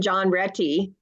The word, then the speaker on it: John Retty: Well, Yeah, my good friend John Retty, who's a Brit, and he pronounces his name like that.